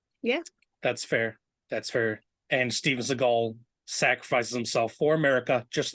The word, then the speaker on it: Seagal: So from here forth, Steven Seagal shall be talked about in this podcast as Steven Seagal, as that is how his name is actually supposed to be pronounced.